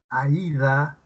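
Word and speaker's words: Aída: Cuando tienes en la palabra, por ejemplo, en el nombre de una chica Aida. Aida, la que hay una bocal abierta y una vocal cerrada, está la que suena con más fuerza.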